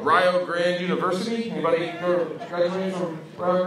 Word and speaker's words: Rio Grande: That's exactly how I thought they pronounced it as well, because that's how they spelled it. But they corrected me at the college and told me it's pronounced Rio Grande because, get this, Rio rhymes with Ohio.